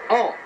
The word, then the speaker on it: An: Kovalov, Adjem à nouveau, An, qui a un nom très court, AN, ça s'écrit tout simplement, et j'ai choisi la prononciation la plus simple, An. Janvion, dans cette défense de